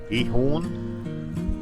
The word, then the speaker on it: Giethoorn: In Giethoorn, although I've been reliably informed the G is pronounced as a H, so it maybe should be Giethoorn.